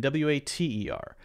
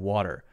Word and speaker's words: water: English as well but if you have the T there in this sort of situation where there's an R an ER after it or often a lot of vowels after it then Americans will will say this very interesting thing called a light D sound we will say better